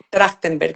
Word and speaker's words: Trachtenberg: El apellido Trotner viene de, a ver si lo pronuncio bien, Trachtenberg, Ujú. ¿correcto? Trachtenberg, sí.